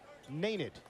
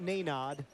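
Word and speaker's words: Nenad: New pronunciation, we've been told by Mr. Kristich himself. Naned. Not Nanad, not Nanad. Say it quickly. Naned, like Noonan.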